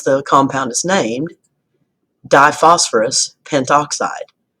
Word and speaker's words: pentoxide: compound is named diphosphorus pentoxide notice that the a vow sound at the end of pinto was dropped just so it sounded a little bit more fluid U I won't worry